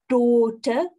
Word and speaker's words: daughter: Daughter, daughter, výslovnost d, o, daughter. To gh, toho si nevšimejte. To je celé jenom jedno dlouhé velké. O, daughter.